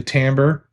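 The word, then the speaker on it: timbre: I'm talking about the ability to hear a note and hear the tambber. T I M B R E.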